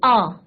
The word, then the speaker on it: hour: H silent है और हमारा प्रोनाउंसिएशन किसका हो रहा है? वोबल का. तो he drives 60 kilometers an hour.